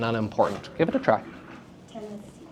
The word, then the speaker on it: Tennessee: So if I were to give a syllable stress to the first and second and then unstress the last, it would be, it's hard. Tennessee. You see how unnatural that sounds?